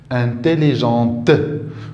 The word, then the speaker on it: intelligente: شنو زدت زدت او انتيليجونت هنا ما كنطقش تي ولكن ملي كتكون موراها او كنطقها انتيليجونت ذكيه دونك هنا عندي